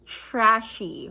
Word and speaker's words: Tres She: Oh, it says right here, pronounced trashy, worn bougie.